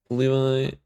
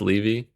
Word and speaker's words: Levi: 40-second downtime for Levi, but should be fine. Pronounced Levi.